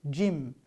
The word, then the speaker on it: gym: here after g y but we pronounce it jim gymnasium or gymnastics this is